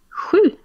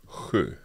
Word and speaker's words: sju: And in Swedish, this is sju. Sju. Okay, let's hear it again. Sju. Okay, so that's an SJ. Exactly.